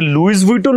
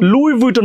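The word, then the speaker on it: Louis Vuitton: হ্যাঁ তাহলে আপনারা যারা যারা এতদিন এই যে লুইস উইটন লুইস উইটন করছেন প্লিজ দয়া করে মাফ চান মাফ চেয়ে এটাকে এখন থেকে কি বলা শুরু করবে লুইটন লুই উইটন বলা শুরু করবে এটাকে আমরা লুইস উইটন বলবো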